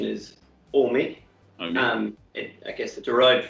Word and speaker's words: Ohme: i partly see it as ohme but also omi is that the right pronunciation of it those pronunciation is all me and i guess it derived from home i'm